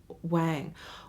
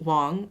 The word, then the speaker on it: Wang: Well, actually, my last name is pronounced Wong. It's spelled with an A. And I like to just tell people, pretend it's a magic wand, W-A-N-D. It's just W-A-N-G. So it's the same way you would pronounce wand, magic wand.